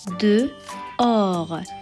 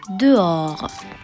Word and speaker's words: dehors: Donc le H et le S final sont à ne pas prononcer.